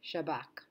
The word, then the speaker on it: Shabak: However, right here, the Shin Bet will be said Shin Bet, but the other abbreviation will not be said Shin Bet Kaf, but it will be pronounced Shabak.